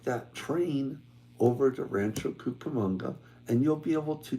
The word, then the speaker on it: Cucamonga: and the question was why Rancho camanga Rancho kukamonga I'm going to pronounce it correctly why because that particular